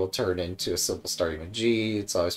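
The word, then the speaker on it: ぎ: You pronounce it gi.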